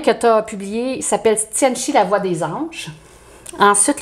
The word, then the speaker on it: Tianchi: Ben, écoute, moi je le prononce Tianchi, mais en réalité il y a un S. Des gens le prononcent plus en S, mais je trouve que ça fait plus cute, Tianchi.